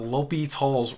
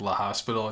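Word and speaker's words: L'Hôpital: That's kind of how you pronounce this, L'Hopital's. Some people kind of say like La Hospital. It doesn't really matter, but the correct way you're supposed to say is L'Hopital's.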